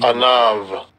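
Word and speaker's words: עָנָו: Strong's H6035, Anav, Anav, second entry, they pronounce that with that V, Anav, Anav.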